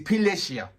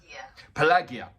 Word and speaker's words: Пелагея: and it's absolutely funny two different ways of pronunciations so i'm going to play out the in one way is it's pilicia and the other way which is translated into english is pelagia so it's complete pleasure and